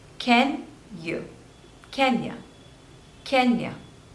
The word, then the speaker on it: Kenya: Kazakhstan Kazakhstan next is Kenya Kenya so there are two syllables and stress is on the first one can you Kenya Kenya Kenya next is Kuwait Kuwait